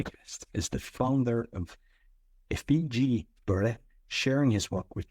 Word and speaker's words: Effiji: Effiji is how you pronounce it.